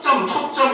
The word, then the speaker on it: 초점: 발음도 초점입니다. 아이들이 이거 자꾸 실수하죠. 얘를 발음을 초점 이래가지고 시옷을 넣는다? 틀린 겁니다.